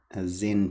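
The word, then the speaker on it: Xen: And then the last one here is called a Zen tube. Zen spelt with an X, and you introduce the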